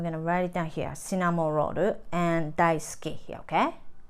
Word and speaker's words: Cinnamoroll: Japanese, um, when we pronounce, we don't have an R sound, so we say more L sound. So cinnamoroll.